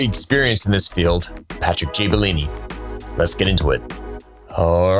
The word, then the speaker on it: Gibellini: Gibellini with a J. Gibellini with a J. Yeah. But spelled with a G.